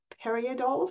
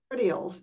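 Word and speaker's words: peridioles: Those eggs are called periodoles. Is that right, Christian? Did I pronounce it correctly? And they're peridials.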